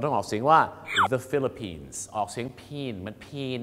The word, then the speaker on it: Philippines: ฟิลิปปินส์ ครับ เรา ต้อง ออก สียง ว่า The Philippines ออก เสียง Pan เหมือน Pan เนี่ย นะ ฮะ